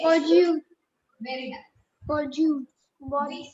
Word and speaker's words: bonjour: We say, Bonjour. very nice. Bonjour. We say bonjour. Bonjour. J. It's not bonjour. J nahi hota. Okay. What is it? It's bonjour. Bonjour.